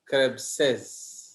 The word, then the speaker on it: Krebs': तो इसलिए हमें उनके पीछे apostrophe देना पड़ता है जिसका प्रोनाउंसिएशन क्या है? Krebses.